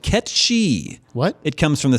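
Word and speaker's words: Cait Sith: the pronunciation of Kate's it is actually not Kate Sethe but catch she what it comes from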